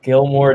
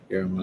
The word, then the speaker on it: Guillermo: How do you say it? It's Guillermo. There might be Guillermo. an R roll in there, but I don't know for certain. But It's got L's in there, and it's just like right, it's you look at it and it's like you it's a tough name to pronounce. it is one that you have to kind of Guillermo.